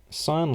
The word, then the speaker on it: sine: things on pronunciation right sine is pronounced like sine like a letter post sign it's not sin it